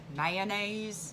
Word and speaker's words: mayonnaise: Mayonnaise. Mayonnaise. Mayonnaise. Yeah, I just say mayonnaise, but Mayonnaise. It's just two syllables.